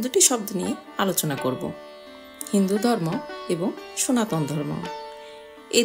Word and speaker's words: হিন্দু: কিন্তু পার্সিয়রা উচ্চারণে স এর উচ্চারণ না করে হ উচ্চারণ করতেন। তাই তারা বলল সিন্ধু এর পরিবর্তে হিন্দু।